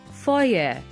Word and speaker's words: foyer: at the end but the right pronunciation is foyer the fire of the concert